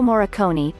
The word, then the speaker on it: Morricone: To many cineastes, Maestro Morricone, pronounced Mor-a-con-i, was a unique talent,